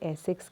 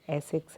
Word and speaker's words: ASICS: इसे एसिक्स कहते हैं, राइट? इसका प्रोनाउंसिएशन जो है करेक्ट, वो एसिक्स है, ASICS।